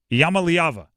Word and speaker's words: Iamaleava: Iamaleava. There you go. Iamaleava? Iamaleava. I believe that's how you pronounce it.